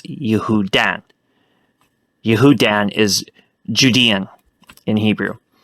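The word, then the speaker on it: יהודן: In Hebrew, that word is spelled Yod, He, Vav, Daled, Nun, because in Hebrew it's Yehudan.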